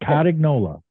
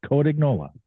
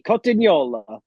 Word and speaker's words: Cotignola: It's not Cotignola. It's Cotignola. The Italian pronunciation would be Cotignola, but Well, that's not so good when he does it.